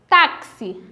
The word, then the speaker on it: táxi: tem som do ch táxi tem som do cs então no som do